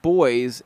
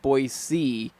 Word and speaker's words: Boise: a package yesterday and they pronounced it boys and not Boise have y'all will heard